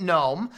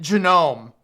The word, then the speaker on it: GNOME: about I will no longer be calling it gnome I will not be calling Agra gnome I will be calling it Janome and then we are going to say Stallman